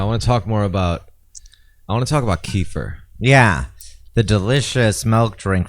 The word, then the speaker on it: kefir: It's not kafir because that's infidel in Islam and also nigger in South Africa. Yeah, that's a racial term. That's their racial term. Yeah, the K word. But kefir, KEFIR.